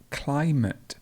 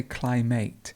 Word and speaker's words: climate: word client client and climate lots of people say climate but it's actually a schwa so you would have clay and then we've got the schwa here which is climate great this is clinic